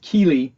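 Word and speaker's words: Chilli: it is it's spelled pronounced keely in italian but it looks phonetically or reads like chili so everyone calls them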